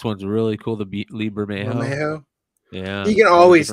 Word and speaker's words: Bermejo: Bermejo.